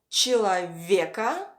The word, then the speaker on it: человеко: First, человека, the stress falls on е, человека, and ненавистничество, the stress falls on the first и.